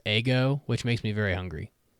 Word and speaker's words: Ego: yeah by the way uh ego would be pronounced ego which makes me very